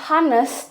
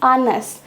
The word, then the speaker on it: honest: Karena masih inget kan, friends, kalau di bahasa Inggris itu ada yang namanya silent words. Silent words, jadi nggak dibaca. Dan honest itu adalah salah satu kalimatnya. Nah, jadi kita bacanya bukan honest, tapi honest. An honest man.